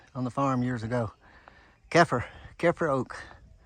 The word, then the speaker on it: Keffer Oak: Sorry, it's not Kiefer. Keffer Oak. The gentleman doing trail magic down below, I asked him how to pronounce it. And he said the Keffers used to own a farm and this tree was on it.